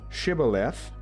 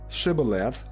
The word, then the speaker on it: Shibboleth: When he said no, they said to him, "Say Shibboleth," and he said Sibboleth, for he could not pronounce it right.